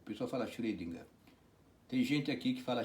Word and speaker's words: Schrödinger: O pessoal fala Schrödinger. Tem gente aqui que fala Schrödinger, mas é feio, viu gente? Porque alemão acentua a primeira sílaba. Esse O aqui é Schrödinger. É entre O e E, né? Schrödinger.